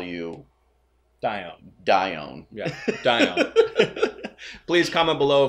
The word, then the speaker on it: Dione: So it is D-I-O-N-E. I would think it is Dione. Dione. Yes, we're going to go with Dione.